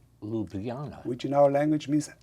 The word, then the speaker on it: Ljubljana: Ljubljana, Ljubljana.